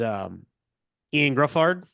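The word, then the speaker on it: Ioan Gruffudd: Doctor Strange in the Multiverse of Madness is Ian Gruffard. That's how you say his name. Excuse me. Yeah, or Griffithud or whatever.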